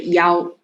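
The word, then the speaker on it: 幺: good e right but if you read the phone number which one very good yao right so then but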